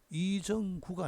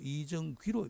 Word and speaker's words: 이정귀: 원래 발음은 귀라는 것을 기억할 필요가 있습니다. 이름 할 때 예. 이정구가 아니고 이정귀로 발음해야 되죠.